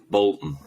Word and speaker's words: Bolton: you pronounce bolton bolton yeah so bolt on just sounds like you've got your emphasis wrong sounds like it sounds